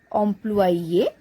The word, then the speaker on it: employé: So here the pronunciation is same for masculine and feminine, both the versions. Employé, but while writing we add extra E to make it feminine.